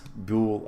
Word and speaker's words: boule: So we'll need to get another silicon boil. That's fine, but boule, I should say. I keep calling it boils. They're boules, I think. I don't know. Rhymes with jewel.